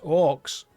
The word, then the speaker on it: OOX: Let's go and find OOX, pronounced Orcs. That's how you say it.